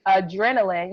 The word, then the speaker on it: Adrenalynn: Yeah, my Facebook business page is Adrenaline. You know, like the word adrenaline, but it's spelled ADRENALYNN.